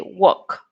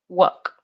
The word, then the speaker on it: walk: silent so you say walk walk now walk walk the L is not pronounced walk alright so we're